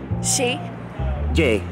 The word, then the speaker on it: Chez Jay: the Dive Bar Santa Monica how do we pronounce that say j she she J J like that guys if you follow